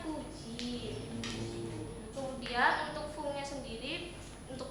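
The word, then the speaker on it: 九時: Sedangkan jam 9 kalau biasanya itu apa? Kyu ya. Kyu kalau di jam itu dibacanya kuji.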